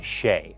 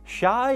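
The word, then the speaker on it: شيء: In Arabic, Hulud means eternity or immortality, and Shay just means thing. And it should be Shay. Shai is actually the word for tea, and maybe it's not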